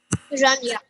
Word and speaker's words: Hiranya: As he lifted the earth up, he was attacked by a very vicious demon named Hiranya. Wait, how do you pronounce it? Hiranya. Okay, Hiranya.